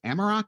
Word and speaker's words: Amerock: She was the first woman ever hired for outside sales by Anchor Hocking's Amerock. Am I pronouncing it? Is it Amerock? You did great.